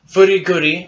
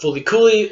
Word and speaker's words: FLCL: you probably already know called Furikuri, or as in the US is called Fulikuli, or as Martin calls it, FLCL, which really is the superior way of pronouncing it. Because Fulikuli just is a little... It's a little mouthful. It's a mouthful. But I say Furikuri because that rolls off. I like FLCL.